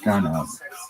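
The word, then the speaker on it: גנב: The original Hebrew word with the root GNV, pronounced ganav, appears numerous times in the Bible.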